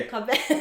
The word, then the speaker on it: Cobb Vanth: Cobb Vanth.